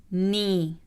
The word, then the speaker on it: knee: إذا جاء حرف الكي يليه حرف الإن فإن حرف الكي لا يلفظ. حرف الكي لا يلفظ. Knife, knife. No, no. Knee, knee.